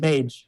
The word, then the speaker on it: ChillMaj: That's Chill, C-H-I, is ChillMaj, is that how you say it? Mage. ChillMage, ChillMage. Great story.